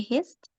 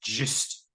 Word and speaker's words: gist: yes, because we are reading for the hist. Yes, it's actually pronounced gist, gist.